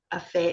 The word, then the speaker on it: FHT: fit um the other we all call Family Health Team a fit it's acronym is fht don't ask me why but that's how we pronounce it um so I will